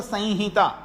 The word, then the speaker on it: संहिता: लेकिन वास्तव में अगर बोले तो संहिता, संहिता यानी जो अनुस्वार है वो नाक में उच्चारण, संहिता ऐसा होगा।